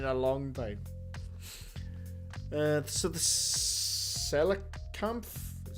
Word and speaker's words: Coelacanth: So the Coelacanth, is how you say it, was extinct for hundreds of years.